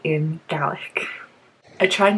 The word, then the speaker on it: Gaelic: And that's specifically Scottish Gaelic, which is pronounced Gaelic, not Gaelic, in case you were confused.